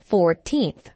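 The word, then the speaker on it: fourteenth: first second and third the stress is on the second syllable 14th compare this with 40th she'll be 55 on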